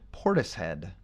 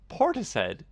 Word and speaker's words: Portishead: Have you ever heard of the band Portishead? Portishead. Like rhymes with P-O-R. tortoise? Sort of. Yeah, tortoise. Yeah, it does rhyme with tortoise.